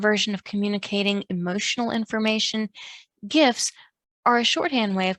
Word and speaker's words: GIF: topic of hot dispute the originators of the file type pronounce the g like j pronouncing the word like jif but another popular pronunciation